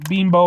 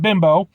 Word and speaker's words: Bimbo: and I know that you're supposed to pronounce it beambo instead of bimbo you name the bear